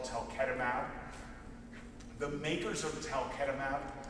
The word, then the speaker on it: talquetamab: The makers of talquetamab mispronounced their own drug, and they call it talquetamab, but that's too hard for me, so I've